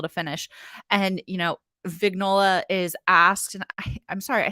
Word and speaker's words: Vignola: finish and you know vignola is asked I'm sorry I think I keep pronouncing her name wrong vignola because the G is slightly silent I just can't do